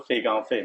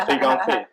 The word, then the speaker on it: Fei Gang Fei: So Fei Gang Fei, much better. So I always said I'm destined to be in Montreal. So Fei Gang Fei, because in French Fei Gang is perfect, same pronunciation in Chinese.